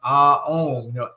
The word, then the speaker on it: Om: Also, you could use the basic chant of Om, A-O-M, Om, right? Because Om is really 3 syllables.